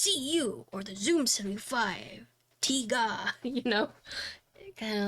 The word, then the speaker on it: Tiga: Would I recommend this board over the 75 Tiga? So it's actually Tiga, not Tai, or they basically, it's pronounced differently.